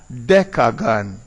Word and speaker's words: decagon: If the vowel is an A or an O, it is dec.